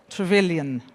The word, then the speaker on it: Trevelyan: It's already been here several panels, so Trevelyan is a French name, but I should pronounce it in English, so Trevelyan, right?